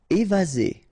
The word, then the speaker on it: évaser: Évaser. Remember, one S between two vowels. Z.